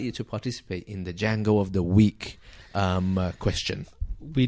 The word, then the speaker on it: Django: So Django of the Week is spelled with a J, not a D, like the film Django Unchained. It's a Jango of the week. You can hashtag it. Very different to the Django with a silent D.